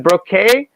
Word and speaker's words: Brocka: Well, and how do you say your last name? Is it Brocka? Exactly. Yeah, you got it right.